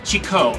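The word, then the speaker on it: Chicó: I am in the neighborhood called Chico, which looks like Chico, but it's actually pronounced Chico with an accent on the O.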